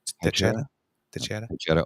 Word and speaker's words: Teixeira: I think that's the X is usually pronounced a CH in that sense. So yeah, Teixeira.